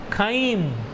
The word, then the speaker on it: chyme: and partially digested food is called kain you can say chime also your wish pronunciation is kind partially digested food in